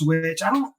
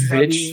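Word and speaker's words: VVitch: Watch Witch. It's like spelled like VV. Yeah. ITCH, but I don't know if it's Vitch. W. Bitch. Yeah, I think the V's are supposed to make a W.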